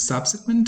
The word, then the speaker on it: subsequent: the other one is subsequent stress on the first syllable stress and on the